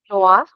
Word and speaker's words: noir: We do pronounce the R in the second as well.